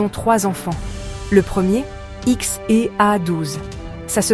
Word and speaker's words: X Æ A-12: Le premier X A12, ça se prononce XH A12, sauf si tu es un humain normal.